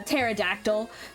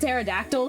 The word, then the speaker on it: pterodactyl: just because um yeah I can see where you put the tea in front because you know uh pterodactyl but I don't pronounce pterodactyl normally most of the time I say put pterodactyl because of Gravity Falls and I've it's become a habit so anytime you see a p in front of a t i